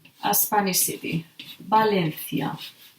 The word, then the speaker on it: Valencia: V is pronounced like B. They have the same pronunciation. It's like two different written letters, but it's the same sound. For example, we can say Valencia, a Spanish city.